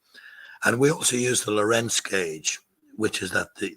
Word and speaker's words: Lorenz: 10 a Dane uh Lorenz it's pronounced the same way I suppose to rent but it doesn't have the T in it um so it's it's